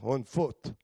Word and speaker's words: Hanford: Or as the greenhorns would say, on foot, right? That's how they pronounced Hanford.